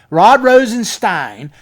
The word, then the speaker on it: Rosenstein: Rod Rosenstein. Like Frankenstein. Like Frankenstein.